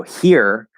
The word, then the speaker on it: here: also in the pronunciation so here uh in english sometimes we have silent h's um and in fact the h even if it's not silent it can very often just disappear anyway that's a linking rule